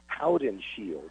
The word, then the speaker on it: Howdenshield: And he said, well, technically it's Howdenshield.